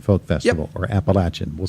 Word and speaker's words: Appalachian: All right, let's get back to the Northern Appalachian Folk Festival, or Appalachian.